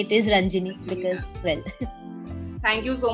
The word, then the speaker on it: Ranjini: a content writer for a company in Pune, Ranjini. I hope I pronounced your name right. I meant to ask you. Hello, everyone. Yes. No, you pronounced it correctly. It's not Ranjini, it is Ranjini because, well.